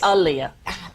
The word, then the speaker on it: Aaliyah: I am Ilia yeah I say alia it's Ali I like Muhammad Ali so the next influencer